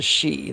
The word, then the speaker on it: Sidhe: There is the high fae that are known as the She. That's Sidhe. For those who do not know, that word is pronounced she.